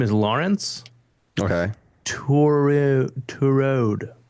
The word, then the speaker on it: Tureaud: Touraud. It's like a French name. Tureaud. Ture. Torode.